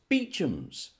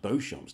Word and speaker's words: Beauchamp: see on your screen now how do you pronounce that of course beechums you didn't think it was pronounced beauchamps did you you idiot what about this one